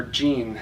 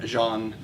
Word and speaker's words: Jean: and I calls her Jean as in denim but she went around pronouncing her name as if it were the last syllable in parmesan everyone at her high